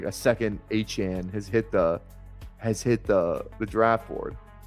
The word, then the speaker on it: Etienne: I don't know if I'll be able to mentally correct myself and say Achan. Trevor Achan. That's how he said his name is supposed to be pronounced.